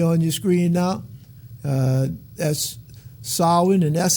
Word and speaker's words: Samhain: then you see on your screen now that's solid and that's how it's pronounced it look like it should be pronounced Samhain you know but it's ashli sovereign and now